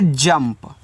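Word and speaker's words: jump: जे यू एम पी इसको पढ़ेंगे जंप। देखो जे से आपका ज यू का उच्चारण तो होगा नहीं। एम के बाद देखो पी है तो एम से आधा म और पी से आप यहां पे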